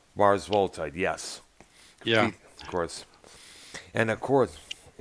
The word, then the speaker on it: Mars Volta: The Mars Volitas. I've had trouble Oh, pronouncing. Mars Volta. Mars Volta.